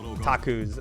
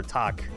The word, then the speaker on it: Taku: Taku's, or Tak, I guess if you say it correctly, is like the actual main character. Mm-hmm. Both are test pilots for the Gun Arc. Yeah, Tak. Right. Yeah, the U is deliberately meant to be silent.